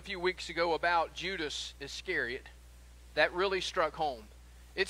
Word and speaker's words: Iscariot: got to judas iscariot help them to learn how to say his last name if you will judas iscariot by calling him judas is a carrot and that's what he's